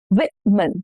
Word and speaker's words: women: Women. The women are waiting outside. Women. Now the rule is O changes to a short I sound and the stress is on the first syllable.